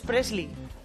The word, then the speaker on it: Presley: Claro, uno es Preisler, la madre de Tamara, y el otro es Presley. Ya, porque Preisler tiene R y Presley no. Presley y otro es Preisler.